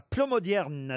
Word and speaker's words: Plomodiern: Béatrice est dans le Finistère à Plomodierne. C'est bien ça, Béatrice? Oui, bonjour. Est-ce que je Bonjour.